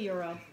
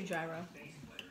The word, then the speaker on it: gyro: you pronounce gyro yeah we don't say euro we say gyro can you pass me